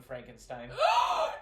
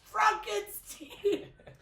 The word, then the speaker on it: Frankenstein: That young Frankenstein. You said it wrong. It's Frankenstein.